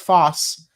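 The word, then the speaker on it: φῶς: So photosynthesis is derived from the Greek words fos or which is pronounced foss um and synthesis.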